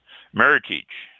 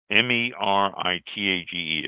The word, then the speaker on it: Meritage: Meritage. This is Meritage. It's not meritage. It's meritage, just like heritage. It's a compound of the words merit and heritage.